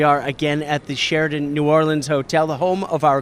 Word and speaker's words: New Orleans: going to bring to New Orleans that's how I say it now I know it's yeah two syllables and a little bit